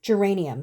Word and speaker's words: geranium: come across something well not this geranium geranium geranium sorry that's how you say it i think